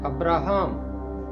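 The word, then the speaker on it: אברהם: باپ، یعنی حضرت ابراہیم۔ ابراہیم کا عبرانی تلفظ ہے ابراہام۔ ابراہام کا مطلب ہے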